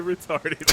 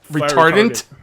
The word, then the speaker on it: retardant: Fire retarded. Come on, stop making fun. That's what you say, isn't it? I don't know how to say it either. It's fire retardant. Retardant. Oh, retardant.